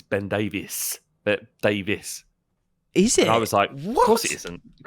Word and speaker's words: Davies: Everybody in Wales calls it Davis. It's not Davies. Davies isn't a name in Wales. It's Davis.